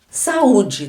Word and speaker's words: saúde: temos um iato aqui saúde também é um encontro vocálico porque nós temos duas vogais SA o de que se encontram para eu ter o encontro vocálico eu não posso ter uma consoante entre eles se eu tenho duas vogais sem ter uma consoante no meio Eu tenho um som vocálico e neste caso ele é um iato porque são duas vogais elas são bem marcadas o som de sa u de são bem marcados então nós temos